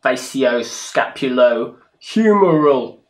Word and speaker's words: facioscapulohumeral: Well, hopefully we'll know a little bit more about FSHD now, or facioscapulohumeral muscular dystrophy.